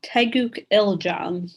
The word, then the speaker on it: Taeguk Iljang: So that was Alyssa performing Taeguk Iljang. That is the correct way to say this form.